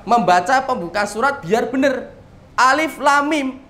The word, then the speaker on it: Alif Lam Mim: Alif lam mim. Jenengan kan tidak baca alama, kan begitu. Dan bacanya apa? Alif lam mim, dikasih layar panjang semuanya, kan begitu.